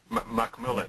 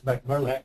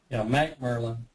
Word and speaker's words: McAnalley: McMillan. Yeah, it's McMurlin. McAnalley. Yeah. Oh, I have here. No, it's Mac Merlin. Okay, McMurlin. That's what I guess I mispronounced it.